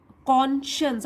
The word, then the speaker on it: conscience: कॉन्शंस, अब देखिए इसको भी कैसे प्रोनाउंस करते हैं, कॉन्शंस, कॉन्शंस।